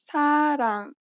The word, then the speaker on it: 사랑: This letter is often represented as an R or an L, but you do not pronounce it this way. In fact, there is no equivalent sound in English for it. Listen to a word that uses this letter. 사랑. 사랑. It sounds closer to an L than an R in English.